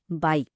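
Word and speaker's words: 白: এর উচ্চারণটা হচ্ছে রাইজিং টোন বা ঊর্ধ্বগামী, অর্থাৎ বাই, ঠিক যেন সূর্যোদয়ের মতো। উচ্চারণের সময় আমাদের কণ্ঠস্বর নিচ থেকে উপরের দিকে উঠবে।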